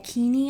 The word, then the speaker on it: Cheni: Um, but it is the Sandro pullover by Flaminia Cheni or Keiny, I think in Italian. The ch is a hard C.